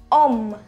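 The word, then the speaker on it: homme: h for example set om set om which means this man this man now om is a masculine noun and it begins with h so we have a vowel or h over here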